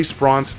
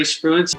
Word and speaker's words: Spruance: Trey Spronce is an animal here, and I'm pretty sure I'm mispronouncing his name. Well, I'm Trey Spruance.